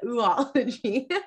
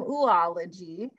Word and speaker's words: Oology: So welcome everyone to Old Time Oology, which is my understanding that's the pronunciation of this particular ology, but it is an older word. So I'm happy to hear other opinions, other authorities on that matter.